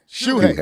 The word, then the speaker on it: Shuhei: Shuhei.